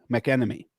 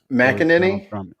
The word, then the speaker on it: McEnany: I am going to give you Kayleigh McEnemy, former press secretary. McEnany?